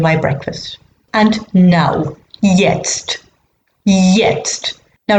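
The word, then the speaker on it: jetzt: anyway ich free sticker yest i'm having my breakfast now yest i'm having my breakfast and now yes yest now remember that all j's are pronounced like y's so that just means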